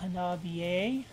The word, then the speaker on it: HANABIE: Hopefully I'm finally saying it right now, HANABIE.